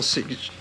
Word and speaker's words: Sears: Al Sears. Google GMO and Dr. Al Sears. That's Can you spell that for us? S-E-A-R-S, just like the store.